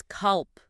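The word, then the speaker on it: كلب: Notice I used a regular K there right at the roof of the mouth. Not the deep punching bag sound. Exactly right. That is a standard K in Arabic.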